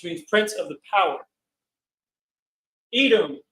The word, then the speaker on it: Edom: Edom equals Adawam equals Adawam, which means red.